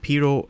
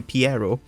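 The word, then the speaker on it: Pierrot: animation production by Studio pero it is written or I mispronounced Studio Pierro sorry uh music by K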